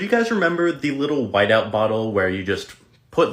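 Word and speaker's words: Wite-Out: So do you guys remember the little whiteout bottle where you just put little white paint on any mistake you made on papers back in the day in school? That was called whiteout, right?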